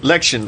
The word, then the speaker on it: Lection: Lection. It's like election, but with the E taken off.